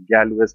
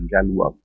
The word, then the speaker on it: Galois: They write it as Galois. The pronounce is at Galois.